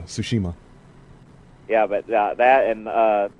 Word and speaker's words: Tsushima: i think i think very rarely if someone tried to put the t in there but like no it's kind of solid it's silent yeah tsushima yeah but that and